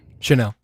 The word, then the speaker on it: Chenal: Chenal.